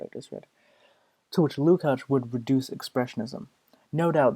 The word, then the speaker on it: Lukács: I was right, it is Lukács. Everyone says it wrong. Okay. Where's the fucking footnote I just read? To which Lukács would reduce Expressionism.